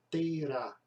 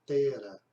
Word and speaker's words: Tera: Alguns dizem que a melhor pronúncia é Terá. Não, bem, na minha Bíblia não tem o acento no A, então seria Tera, à luz da língua portuguesa.